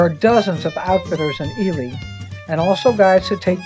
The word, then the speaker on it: Ely: So if you're wondering why your Christmas trees are more expensive, our destination was near the town of Ely.